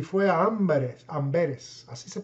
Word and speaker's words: Amberes: Y por eso Casiodoro de Reina tuvo que huir otra vez y fue a Amberes, así se pronuncia, Amberes.